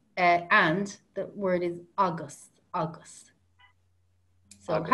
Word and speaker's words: agus: And if you want to say and, the word is august, august.